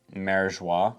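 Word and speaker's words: Mariejois: I think it's spelled differently in other translations, but I think it's supposed to be pronounced Marijois.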